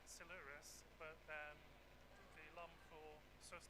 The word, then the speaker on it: Silures: I never know how to say that. Apparently Silures. I did check. I googled it earlier on. I mean, someone from South Wales, I should know. Google told me it's Silures, but the alum for